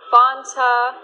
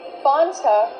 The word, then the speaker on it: Fanta: is pronounced f f use the short a sound before the N it changes a little bit it becomes a little more nasal in your nose f f f f